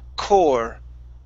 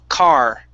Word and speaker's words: car: Now, when you first said the word car, you had said core. We're using an or sound. This is an ah, r. So it's ka, car, car.